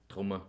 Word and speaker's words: Trummer: No, it's said Trummer in Austria. Well, there German, you go. That's how you say it.